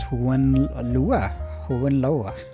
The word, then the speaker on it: Hohenlohe: The House of Hohenlohe, pronounced Hohenlohe, is a German princely dynasty.